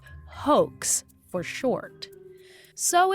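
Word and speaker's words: HOECS: online entrapment control system h o e CS pronounced hoax for short so it's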